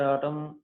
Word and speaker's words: autumn: So here autumn, N is silent. Friends, please try to observe that N is silent. And sometimes we pronounce is autumn and autumn.